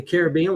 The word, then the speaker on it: Caribbean: I always think Pirates of the Caribbean with David Jones. Also, it's pronounced Caribbean or Caribbean.